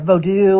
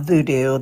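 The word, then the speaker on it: Vodou: um um vido um or vodu or what however they pronounce it it's it's not voodoo that's something that we say but voodoo I believe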